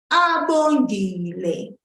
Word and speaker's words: Abongile: Abongile, abongile, abongile.